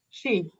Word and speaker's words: Sidhe: She. Tarot of the Sea. Yeah, I know. It's Thank Gaelic. you. It's very odd, but it's pronounced she.